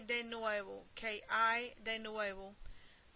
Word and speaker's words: hay: ¿Qué hay de nuevo? ¿Qué hay de nuevo? H-A-Y in Spanish, the H is silent, and so we start with the letter A, I.